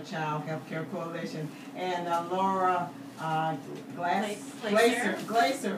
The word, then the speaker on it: Glaser: Healthcare Coalition, and Lara Glaser. I still want to say Glass because it's G-L-A-S. Okay, Glaser, I love that pronunciation of the Early Learning Coalition of Flagler and Volusia counties.